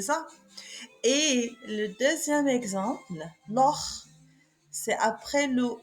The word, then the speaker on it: Loch: Et le deuxième exemple, Loch, c'est après le O, c'est-à-dire après le O, on le prononce. CH, on le prononce Kha.